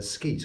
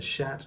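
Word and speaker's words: sceat: Anyway, and look at that, yes, the skeet or scatter, or as it's properly pronounced, shat or shatter.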